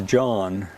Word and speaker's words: Jean: I think her name was Jean, Okay. but of course in French it's John, Oh.